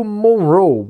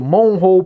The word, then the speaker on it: Monroe: palácio chamado palácio mon o heu pronuncio morrow né porque a pronúncia desse nome aí mas eu já vi gente falando palácio monroe palácio monroe palácio bom cara